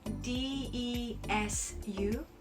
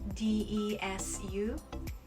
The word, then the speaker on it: です: You see D-E-S-U, D-E-S-U, des. You would pronounce desu, but it's more like des. So think about desk without a K.